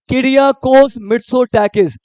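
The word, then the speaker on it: Kyriakos Mitsotakis: के पीएम कौन है इसको तोड़ो क्रिया कोस क्या पेंगे इसको नाम को तोड़ना है क्रिया कोस मिड सो टकिस तो यानी एकदम नाम को तोड़ो जल्दी-जल्दी में नहीं बोलना है किड़िया कोस मिरसो टकिस और ग्रीस के प्रेसिडेंट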